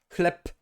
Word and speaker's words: chleb: If a word ends in a consonant, this consonant is voiceless, okay? No matter what, it is just voiceless.